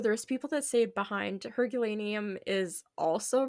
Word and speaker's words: Herculaneum: Herculaneum. Yeah. It's like it's a town. Okay. Like Hercules, but then it says Lanium.